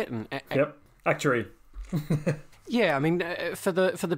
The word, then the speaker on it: actuary: Yep, actuary.